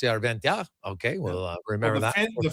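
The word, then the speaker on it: Järventie: They emphasize the first syllable. So, it's not Yurventi like we would call him. It's Yoventi.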